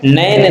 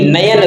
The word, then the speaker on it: नयन: निरंकारी शुद्ध शब्द है नैन नहीं नयन शुद्ध शब्द होता है नयन निरपराधी निरपराध नहीं